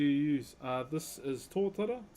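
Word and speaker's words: totara: Uh, this is torta. T O T A R A is how you spell it.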